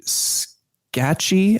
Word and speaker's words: Scaachi: Scacchi, I think it's pronounced. It's spelled Scaachi.